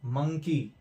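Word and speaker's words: monkey: देखिए यहां पर देखिए मंकी में, मंकी, मंकी में आ की तरह साउंड हो रहा है।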